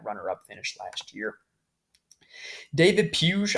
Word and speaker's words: Puig: finish last year David piyush I always want to call him Puig because it spilled spelled like Yasiel Puig but he's a young